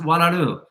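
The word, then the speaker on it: Oualaalou: It's O-U-A-L-A-A-L-O-U. They pronounced Walaru.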